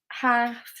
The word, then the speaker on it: half: If the letter L comes after the vowels A, O, or U, and the vowels are in the middle of the word, then the L is silent.